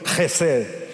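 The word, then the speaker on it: חסד: Y si quiere pronunciarla correctamente, es como si parte de la comida se le saliera por la garganta. A ver, diga conmigo: Gesed.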